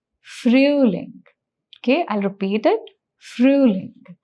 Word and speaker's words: Frühling: Mark the sound of O umlaut here. That is, the sound is Ü. So the pronunciation becomes Frühling.